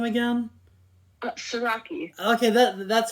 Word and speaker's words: Siraki: Siraki.